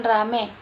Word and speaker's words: ramai: terhadap bunyi bunyi diftong contoh kata ramai diucapkan rame petai diucapkan pete perubahan ini